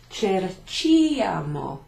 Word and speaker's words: cerchiamo: end, it would be cerchiamo. C and an I. So we put an H in there. Slightly changes the spelling. Cerchiamo, and it keeps the K sound from cercare.